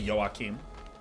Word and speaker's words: Joachim: and at dreamhack uh there's a lot of Swedish joachims so first time I met a yoakim they said hey I'm Joachim and you know I